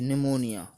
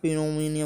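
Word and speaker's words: pneumonia: तो पी एन ई यू एम ओ एन आई ए, निमोनिया। तो इसको कभी आप पिनोमिनिया बोल दो, ऐसा नहीं बोला जाएगा, ये निमोनिया ही बोला जाएगा।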